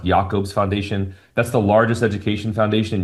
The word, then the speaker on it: Jacobs Foundation: Another grant that we have is the Yakobes Foundation. I know it says Jacobs Foundation. It's pronounced Yakob's Foundation.